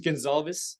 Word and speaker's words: Gonsalves: Mitch G but uh my last name is Gonzalez or you know that they got mistaken with